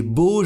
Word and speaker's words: beaux: Et pour le pluriel, l'adjectif beau prend un X mais ne se prononce pas. Par exemple, avec jardin, des beaux jardins.